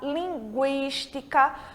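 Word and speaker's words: lingüística: Quando a letra U em espanhol precisa ser pronunciada, ela vai ter o trema, que são aqueles 2 pontinhos que ficam em cima da letra U, que em língua portuguesa não existe mais, mas em língua espanhola ele continua existindo. Então, a gente tem linguiça, linguística, porque a gente está pronunciando esse U, tá certo?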